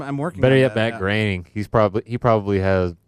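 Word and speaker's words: Groening: And so Matt Graing, not not him, but some of the other pronounce his name. Matt Graining.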